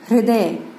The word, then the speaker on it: हृदय: ध्वनि का उच्चारण है, तो देखिए हृदय बोलते हैं हम हृदय, और इसमें ऋषि ऋषि